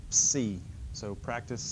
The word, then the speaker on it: Psi: sound so Phi Chi the next letter is Psi like a PS sound Psi so practice is saying